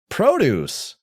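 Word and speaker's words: Produce!: Super Adventure Island is a platformer developed by Produce. You got to say it like that cuz there's an exclamation mark.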